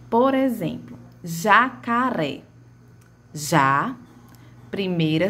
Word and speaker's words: jacaré: Na palavra jacaré, a sílaba com maior tonicidade é a terceira sílaba, ou seja, a última sílaba, certo?